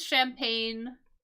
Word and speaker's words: champagne: like it's something else right but this is champagne that's the pronunciation of this word this is a type